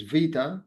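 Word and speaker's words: βήτα: So uh where Q uh is equal to VA0 uh it's a Greek letter it's va it's not beta it's vita the correct pronunciation so it's va 0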